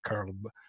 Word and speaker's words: curl: pronounce curl it's an it's actually an English word and you call it curl curly curl so of course it